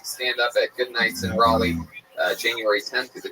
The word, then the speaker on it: Raleigh: Say Raleigh.